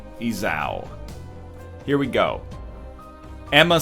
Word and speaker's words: Esau: How to pronounce Esau.